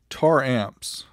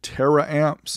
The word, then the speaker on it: Taramps: tar amps anybody else pronounce it terra amps i know i used to back in the day they